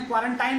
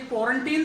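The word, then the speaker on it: quarantine: ने उसे क्वारंटीन कहा, कुछ ने क्वारंटाइन कहा, तो मैंने कहा चलो डिक्शनरी कंसल्ट कर लेते हैं, क्या दिक्कत है। डिक्शनरी कंसल्ट की, वहाँ पता लगा कि ये क्वारंटीन शब्द है, क्वारंटीन।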